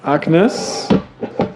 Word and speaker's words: AGNES: next talk has the title Annes I give the German pronunciation abstraction guided framework for